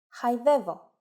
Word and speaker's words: χαϊδεύω: If the letters of a two-vowel combination must be pronounced separately, but none of them gets the accent, then we need to use a special mark I mentioned before. For example, χαϊδεύω, meaning to caress.